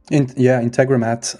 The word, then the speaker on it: Integromat: Integromat.